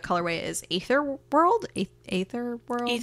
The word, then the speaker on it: Aether: is Aether World a ather World ether ether cool it's spelled ether yeah that's still pronounced ether cool um and it